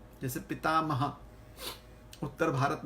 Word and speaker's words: पितामह: पंजाब हरियाणा की तरह, तो वहां पर वो बोलेंगे पितामह है, पितामह हो जाता है कभी कभी। ऐसे नहीं कि हर पंजाबी ऐसे ही बोलेगा। पितामह, क्योंकि पितामह है संस्कृत उच्चारण।